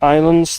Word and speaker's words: islands: It's funny how in islands the S is silent. It's spelled Islams, but it's spel but it you you say it as you say it as that even though it's spelled like that.